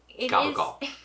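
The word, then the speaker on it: capicola: Goble gal it's pronounced gabble it's spelled that way with the c but it is gabble it is an Italian American slang it is an Italian American slang version but that's what it's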